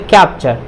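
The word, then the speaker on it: capture: तो ये देखिए टी के बाद क्या है, यू आर ई है, तो इसका उच्चारण क्या होगा, च होगा। तो क्या हो जाएगा, कैप्चर।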